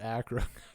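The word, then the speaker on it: Achra: I actually asked the Creator he said he pronounces it Acra he's from the Midwest but it's either um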